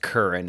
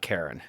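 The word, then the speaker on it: Keren: It actually is pronounced Curran and not Karen.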